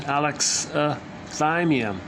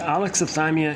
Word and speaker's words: alexithymia: Okay, the proper pronunciation, alexithymia. So the stress is on the third syllable. So alexithymia is a 5-syllable word.